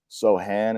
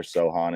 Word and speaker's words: Sochan: did an interview recently where he said specifically that Sohan is how it's pronounced in Polish, but if you were to say it over here, Sohan is fine.